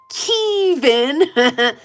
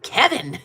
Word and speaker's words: Kevin: It's pronounced Keevan. And he was like, next stop is the town of Kevin.